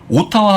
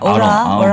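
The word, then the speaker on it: Ottawa: 그런 모습 보여주고 있고 오타와 하면 못 알아듣습니다. 캐나다 갔을 때 네. 오타와 그러면 왜 막 계속 그래요? 뭐라 그래요? 썰이 막 이러거든요. 아로아. 아로아? 그러니까 그쪽 발음이 그렇잖아요. 오타와가 아니라 어라.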